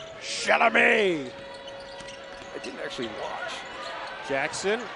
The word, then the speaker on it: Chalamet: You got to pronounce it like Adam Sandler did. Chalamet.